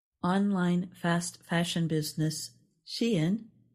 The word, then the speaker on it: Shein: Online fast fashion business Shein is She-in, not Sheen.